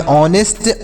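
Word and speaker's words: honest: अगर ओ का प्रयोग हो तो चच का उच्चारण नहीं करते हैं याद रखिएगा इसे ऐसे आप इसे पढ़ेंगे इसे पढ़ेंगे ऑनेस्ट आवर इको ऑनर इसे हने हावर इच हनर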